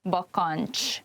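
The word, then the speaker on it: bakancs: end of bokonj you can see the cs which is a hanging diagraph and then the next word zokni begins with a z so you have three consonants at one place and when you pronounce it it's probably better to divide the word into parts like bakanch and zokni try to say it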